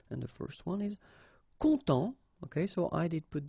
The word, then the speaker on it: content: add this and then phonetically it will be a bit different. It will be contente. Okay, so masculin content, féminin contente. Alright, and then if you